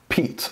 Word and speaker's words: Piet: to be reviewing the this is a crkt peat I know it's not spelled oddly there p-i-e-t but it's pronounced P this is a Jasper boxness design out of